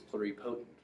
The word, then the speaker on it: pluripotent: And how you pronounce this is pluripotent.